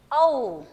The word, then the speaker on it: औ: और ये जो है इसके बाजू में एक मात्रा है और ऊपर दो मात्रा है, तो इसका प्रोनाउंसिएशन, इसका उच्चारण भी अलग हो जाएगा। इसे हम बोलेंगे औ, ऐसे बोलेंगे।